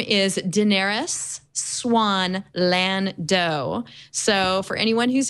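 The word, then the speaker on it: Xuan: swann is in there i'm told that's how you pronounce x-u-a-n which is her second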